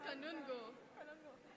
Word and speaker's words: Kanungo: He went, you're Bihan Colombo, yeah. Where the hell did Colombo come from? It's Kanungo.